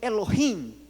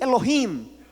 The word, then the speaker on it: Elohim: Então, pronuncie após mim, Elohim. Mais uma vez, 1, 2, 3, Elohim.